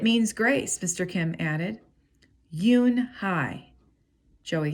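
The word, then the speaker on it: Unhei: turned to joey she nodded slowly yes it's pronounced yoon hai and it means grace mr kim added yoon hi joey said it slowly this time perfectly it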